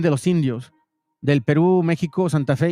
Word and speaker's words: México: Ahora, comprendan que la gente en ese tiempo no podía decir la X, para ellos poder pronunciar esta palabra, tuvieron que, pues, incluir la J. Se dice México. También lo puedes decir con la X y en unos casos con la G, ¿ok?